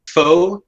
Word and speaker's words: pho: It should be I would say pronounced pho.